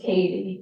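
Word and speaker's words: Cady: It's spelled C-A-D-Y, but it is Katie.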